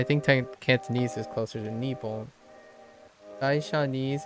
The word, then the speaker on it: Nippon: Just so you know, in Fujianese it's really quite literally Nippon. So Nihon is very close, but it's Nippon.